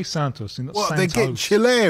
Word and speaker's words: Chile: First of all, I love the way the Yanks always say Chile. Chile. You know, not chili, as we say. Chile. That's the right pronunciation, isn't it?